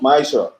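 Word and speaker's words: ma'aser: Means tenth in the Hebrew and is pronounced ma'asher.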